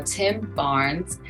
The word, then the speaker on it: Tim Barnes: today's show we will be getting to know Tim Barnes is that how you say your name that